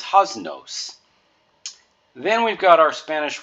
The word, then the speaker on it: haznos: So you could say your pater noster or host or most, and that's the same vowel you would use for nos. So this word is haznos.